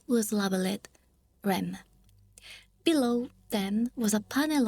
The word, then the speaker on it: REM: ADM and REM. Pronounce it Adam and Rem.